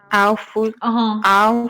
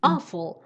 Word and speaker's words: awful: این کلمه رو چطور تلفظ میکنید؟ awful. این اشتباهه. او نیست نه. awful. فکر کنم با این تلفظ جغد که اول هست O-W-L با اون اشتباه گرفتید. اون اول تلفظ میشه. این میشه awful.